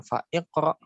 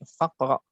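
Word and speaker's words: فاقرأ: Nah, dia dibacanya bukan fa iqra, tapi faqra. Ya, gitu ya.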